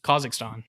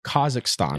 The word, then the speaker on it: Kazakhstan: here is from russia yeah how do you pronounce it kazakhstan kazakhstan yeah so i was original i was born